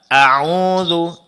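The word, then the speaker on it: أعوذ: Hati-hati pada Hamzah, Ibu, ya. Jangan harakatnya terpanjangkan, ya. Au gak auzu. Auzu. Jangan au.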